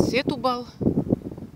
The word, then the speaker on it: Сетубал: С этой смотровой площадки открывается шикарный вид на город Сетубал. Оказывается, ударение все-таки на буковку У, на полуостров Троя.